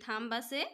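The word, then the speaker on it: thumb: বি থাকে হলে B2 silent হয় ইয়াক আমি উচ্চারণ করিব না লাগে কিন্তু লিখুতে আমি লিখিব লাগিব হেতেনেকে থাম খবছয়া টি এইচ ইউ এমবি থামবা কিন্তু আমি থাম বলি কইছু বিটু আমি উচ্চারণ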